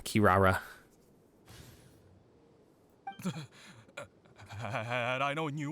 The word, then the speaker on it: Kirara: Rock okay Jesus Christ I keep saying your name wrong yeah it's very unnatural Kirara had I know when